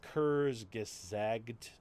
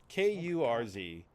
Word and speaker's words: Kurzgesagt: So there is a YouTube channel that I sometimes watch that I cannot pronounce the name of it. It's Kurzgesagt. It's Kurzgesagt, and it's like in a nutshell is basically the videos, right?